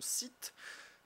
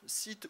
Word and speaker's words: Scythe: le déballage de l'alimentation site Stronger. Alors, site ou site, hein, on prononce comme on a envie, nous on fait ça à la française, forcément on aurait pu aussi vous faire ça à l'anglaise.